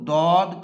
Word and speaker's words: ضاد: حرف ہے۔ عزیز طلبہ، عربی زبان میں اس کا تلفظ ضاد ہے۔ یہ جنس کے اعتبار